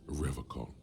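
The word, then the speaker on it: Revachol: for Revol he pronounces Revol with a hard K unlike other people serious question time this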